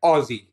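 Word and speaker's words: Ozzy: the god of Medal Aussie Osborne Black Sabbath ousie Osborne that's how we say it Aussie so there you go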